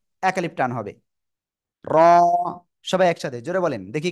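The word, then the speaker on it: ر: agar পিঠ কোথায় বললাম জিহ্বার আগারপিঠ তার বরাবর উপরে তালুর সাথে লাগবে লাগিয়ে লাগিয়ে এক আলিফ টেনে উচ্চারণ করব র র র সবাই একসাথে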